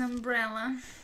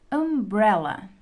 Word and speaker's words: umbrella: I need an umbrella. Agora pronunciem comigo. Umbrella. Umbrella. Nós claramente conseguimos ouvir a pronúncia da letra U, que é uma vogal.